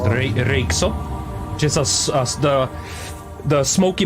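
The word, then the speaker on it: Röyksopp: if you know about the Norwegian group uh Roop you would probably call it but it's pronounced reop just a the the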